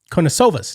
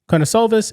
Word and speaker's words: Karnisovas: I don't know how you pronounce his name. Karnisovas, that's the way you pronounce his name, I think.